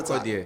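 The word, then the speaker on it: Sarkodie: For example, Sakoda, Abi Sakodie. Yes, Sakodie. Sakodie. Yeah, Sakodie. I'm trying to pronounce it well because they corrected me. Sakodie. Sakodie. Yeah. Yeah, This is better. Sakodie.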